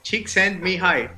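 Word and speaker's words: Csíkszentmihályi: Estefano me dijo que el truco para pronunciar eso, porque supuestamente es impronunciable, es pollito se va al cielo. No, pollito, envíame al cielo. Chick send me hi.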